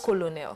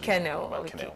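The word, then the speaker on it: colonel: pom promoted to full it's kenel it's not colonal no but written colonal yes that's how it's spelled kenel yeah to full kennel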